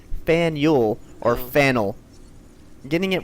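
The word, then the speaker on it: Faneuil: see explosion said uh it rhymes with Daniel so you could say Fel like Fel okay Fel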